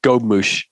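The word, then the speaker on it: gobemouche: I just clicked on a thing that says pronunciation, and it says gobmouche.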